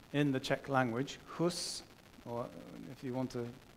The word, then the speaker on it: Hus: Next, Huss rejected those diktats, those statements, those declarations, the bulls that the Pope issued, which actually banned preaching.